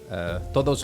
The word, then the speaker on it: todos: Todos los días. If you don't say the D strong enough on the T-O-D-O-S, todos, it sounds like to them you're saying toro.